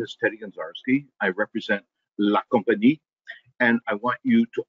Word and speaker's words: La Compagnie: It is company with a la in front of it. That's it. La Compagnie. You don't have to slur your word. You don't have to mangle your tongue.